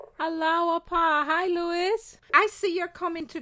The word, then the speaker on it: Louis: It's Louis because that's my grandfather's name. It's spelled with an S, but it's not.